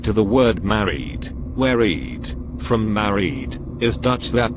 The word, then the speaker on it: eed: Back to the word married, where eed, from married, is Dutch that means oath, and is phonetically pronounced to sound like eat, because it is the moon gods that eat us.